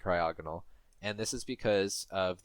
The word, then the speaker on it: Cryogonal: Am I pronouncing is the emphasis in the correct place now? That's what I would say. You need to know these things now. Cryogonal. Cryogonal.